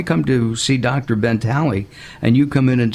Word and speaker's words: Talei: Ben anyway gotcha and am I pronouncing your name right yeah absolutely tally you're one of the